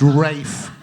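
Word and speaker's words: Ralph: him for having a name that's spelled r-a-l-p-h but is pronounced Rafe what is that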